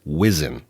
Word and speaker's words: WSIN: But here in California, we have our RIS Center is the Western States Information Network, WSIN, which is pronounced WISN.